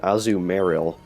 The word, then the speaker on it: Azumarill: It's funny, when I was younger, I would always pronounce it Azumarill, just because it has Marill in its name, so I assumed it was the same.